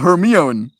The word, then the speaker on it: Hermione: It was pronounced Hermione. Lots of kids thought it was pronounced Hermione.